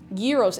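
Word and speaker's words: gyros: Yuros. It's G. It's spelled. I know it sounds fake. G Y R O S.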